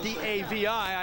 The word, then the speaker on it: Davi: Interesting about the pronunciation of his name, Mike. It's spelled D-A-V-I. I asked him. His coach says Davi. And Joe told me, he says, well, Davey or Davi, whatever you prefer.